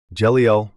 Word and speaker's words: Jeliel: of the 72 cabala Angels who is jeliel jeliel pronounced J L is one of the cherubim known